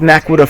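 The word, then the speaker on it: naquadah: It is Naquita. pronounced You Naquita.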